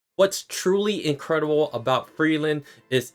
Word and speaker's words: Frieren: fuyu and yeah guys I have acknowledged hey I've been saying free Aaron to me as an English speaker it's a lot easier when you see it spelled like free Aaron to say free Aaron but I understand you German folks and also in in the Japanese dub they do say Freeland so that is the correct way to say it but sometimes free eron